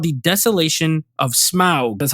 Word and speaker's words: Smaug: Now this one is called the Desolation of Smaug.